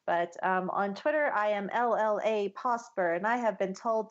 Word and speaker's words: Llapawsper: But on Twitter, I am LLA Posper, and I have been told to make sure to spell that out because it's LLAPAWSPER, like a dog paw.